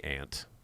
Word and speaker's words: aunt: okay as a kid I'd say aunt like like aunt like the bug aunt I don't say aunt or aunt or anything like that it's aunt I use awe when